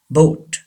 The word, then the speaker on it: boat: यस, बोट. बोट. Don't say bout and bought. Americans pronounce this word bought, but Britishers pronounce this word boat.